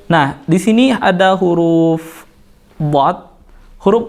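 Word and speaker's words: ض: Nah, di sini ada huruf dhad. Huruf dhad ini makhrajnya adalah pinggir lidah, kemudian dia bertemu dengan geraham atas.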